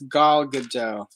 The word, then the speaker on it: Gal Gadot: I've been calling her Gail, and apparently it's Gal Gadot.